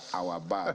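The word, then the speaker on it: Awabah: need to discuss our our bar doesn't it doesn't look like the way it's spelled a-w-a-b-a-h yes uh it's actually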